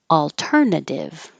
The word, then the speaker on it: alternative: yesterday sounds the same alternative alternative the second T sounds like a d because it's between two voiced sounds your voice is on